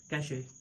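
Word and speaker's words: cache: तो ये कच्ची नहीं है या कैची नहीं है, इट्स कैशे।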